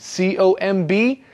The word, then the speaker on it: comb: use a comb remember the comb has no B sound at the end c o m b but you don't say the b just comb yes it's one of